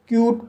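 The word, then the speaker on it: cute: और to means नली सी को का पढ़ा जाएगा यू को यू पढ़ा जाएगा टी को टा पढ़ा जाएगा और ई साइलेंट रहेगा इस तरह से इसे क्यूट पढ़ा जाएगा और क्यूट मींस प्यारा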